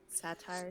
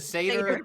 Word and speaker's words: satyr: I play as the one of the new classes, the satire. The satyr. You're the satyr, and you're doing the partnered. Satire. Yeah, the satire. I got Kiva right, and you couldn't get satyr right.